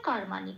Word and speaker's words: কর্মাণি: তারপরে আছে কর্মাণি, কর্মাণিতে ময় রেপ আছে, রেপ থাকলে আমরা আগেই দেখেছি 3 নম্বরে তালিকাভুক্ত করে দেওয়া আছে, বা শূন্যরায় হসন্ত দিয়ে সেটা প্রতিস্থাপিত হয়ে যায়, করের সাথে জুড়ে উচ্চারিত হয় কর বলে, ময়াকারটা যেমন আছে তেমন রইল, আর নিটাও তাই, কর্মা নি।